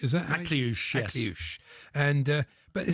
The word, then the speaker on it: Akliouche: I can't pronounce his name. Akliouche, is that? Akliouche, yes.